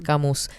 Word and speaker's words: Camus: Hola hermosuras al fin escucho nombrar Albert camus sin pronunciar la s Ay yo lo pronuncié